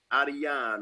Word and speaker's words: Ariane: How do you pronounce the name? Ariane? Ariane.